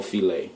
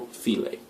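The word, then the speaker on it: filé: And we can't forget gumbo filet. I've heard this pronounced so many different ways. Gumbo file and whatnot, but it's gumbo filet.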